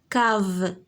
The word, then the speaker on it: cave: Cave K شتي C avec A se prononce K.